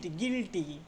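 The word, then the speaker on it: guilty: তাহলে এই ইউ আই এর উচ্চারণটা কি হয়? হসর মত হয়। ই এর মত হয়। গিলটি ইউ আইলটি গিলটি উচ্চারণ আসছে দেখ মত উচ্চারণ গিল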